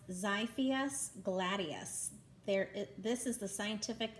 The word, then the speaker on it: Xiphias gladius: X is for, It's pronounced Xiphias gladius.